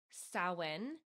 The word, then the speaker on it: Samhain: And I think it's a Celtic, it's called Samhain is how it's pronounced, but it was a festival of the dead.